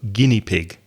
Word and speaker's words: guinea pig: end is not ear it's just II so guinea pig people eat and guinea pigs in Ecuador also